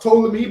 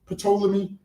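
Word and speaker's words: Ptolemy: I'm sure poll's name see so it's it's pronounced tolamy but obviously a lot of us say poleami.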